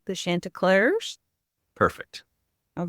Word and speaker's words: Chantecler: the I'm going to say it wrong the Shanta clar Perfect all right nice so tell us about